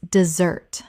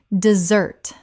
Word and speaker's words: dessert: The noun desert has stress on the first syllable. The dessert we eat and the verb to desert both have stress on the second.